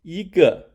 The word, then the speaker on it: 一個: The pronunciation of "一個" sounds similar to "eagle."